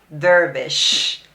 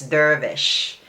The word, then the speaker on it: Dervish: of that lip pencil vervish vervish i don't know how you pronounce that but it's up to you to pronounce it but it's not devil okay it's dervish it's like a french name i don't know where